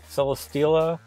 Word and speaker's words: Celesteela: stops a 3-star purple Celesteela. So I want to say it's like Celestial, but it's Celi like Celestial and Stela, so it's a play on words.